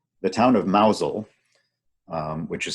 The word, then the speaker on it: Mousehole: the distance on the right the town of Mazal which is spelled mousehole that pronounced nozzle has a very